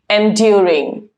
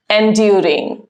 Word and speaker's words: enduring: Enduring. Enduring. ध्यान रखें, correct pronunciation is enduring and not enduring.